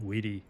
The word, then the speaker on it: vidi: Weni, widi, not veni, vidi, vichi.